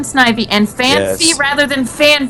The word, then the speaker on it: Snivy: They say sniffy rather than snivy and fan rather than fan.